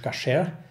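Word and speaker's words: כשר: Koscher oder eigentlich ursprünglich auf Hebräisch Kasher ausgesprochen, bedeutet nicht mehr als rein.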